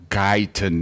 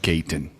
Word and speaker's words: Guyton: Oh, by the way, Neville, he says it's pronounced Guyton, not Gayton. Oh, it's So I was right. It's French.